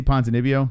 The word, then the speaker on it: Ponzinibbio: They can't say Ponzinibbio. Like, is it? Can you say it? Ponzinibbio? It's not that hard. Like, there's so many harder names to say. Why do people have a problem saying Ponzinibbio? It's so weird.